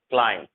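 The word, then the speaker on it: climb: बी जो silent होता है जब एम के जस्ट बाद आप बी देखोगे तो बी साइलेंट होता है, ध्यान रखना।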